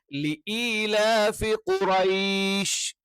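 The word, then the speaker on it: قريش: means bowl എന്ന് പറയുന്നത് പറയുന്ന ഔ എന്നുള്ള ഉച്ചാരണം അത് ഔ എന്നുള്ള ഉച്ചാരണം അല്ല മറിച്ച് എന്താണ് അത് അലിഫ് വാവിന്റെ കൂടെയോ സുക്കൂനുള്ള വാവിന്റെ കൂടെയോ അല്ലെങ്കിൽ സുക്കൂനുള്ള യാന്റെ കൂടെയോ വരുമ്പോൾ ഉള്ള ഉച്ചാരണമാണ് അപ്പൊ ഇവിടെ എന്ത് ചെയ്യണം ഖുറൈഷ് അപ്പൊ ഖുറൈഷ് പിന്നെ എല്ലാ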